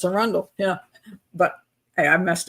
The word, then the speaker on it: Arundel: podcasts, they go and they go an Arundell County and just kind of like I'm like, "No, it's a Rundle. That's a Rundle."